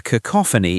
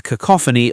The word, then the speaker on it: cacophony: A cacophony is unpleasant. You might hear a cacophony of car horns in traffic. Pronunciation. Cacophony. The stress is on the second syllable.